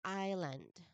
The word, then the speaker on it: island: So this word is island. Island. So there is a silent letter S.